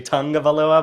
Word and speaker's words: Tagovailoa: I always say the tag. I know it's supposed to be Tagovailoa, but I don't have that.